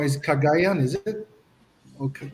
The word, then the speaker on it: Cagayan: if I pronounce it wrong. Is Cagayan? Is it? Okay, Cagayan.